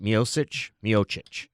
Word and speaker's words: Miocic: Miocic. Yeah. Stipe Miocic, who sounds exactly like he's from Cleveland. Cleveland, yeah, correct. He's an Ohioan. Yeah, good Cleveland boy. Salt of the earth, Rust Belt America, Stipe Miocic.